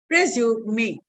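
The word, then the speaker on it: résumé: And E is pronounced as A. English may resume. And the last word is E. So in French, it will be pronounced as resume. The last consonant is, the last vowel is also pronounced.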